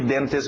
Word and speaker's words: dentist: Pronúncia rápida de dentist, uma palavra conhecida. Todo mundo na hora de escutar dentist sabe o que é um dentist. Evitamos os T's, lembra? Então tira esse T.